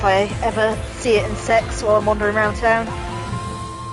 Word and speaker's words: CeX: Uh, sex is our secondhand game shop. It's actually CEX, but reportedly you're supposed to pronounce it the way it's written.